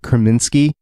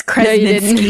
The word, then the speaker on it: Kreminsky: assassin who killed Agent Kreminsky. Oh, I said it right this time. No, it's Kreminsky.